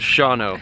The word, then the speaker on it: Shawano: we are in shano Wisconsin which you guys have thankfully told me is pronounced Shao so we're here for